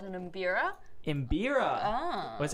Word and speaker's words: mbira: So Mike says the instrument you played was called an mbira. Mbira. Ah. What's how do you pronounce?